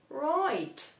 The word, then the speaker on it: write: Wymawiam identycznie jak write, czyli pisać. Warto sobie to tak skojarzyć. Right. Nie ma żadnej różnicy w wymowie tych dwóch słów.